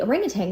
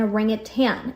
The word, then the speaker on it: orangutan: it, they put an orangutan and the zookeepers pronounce it as an orangutan. And I was like, it's they're missing the G. It's an orangutang. And so I Googled it.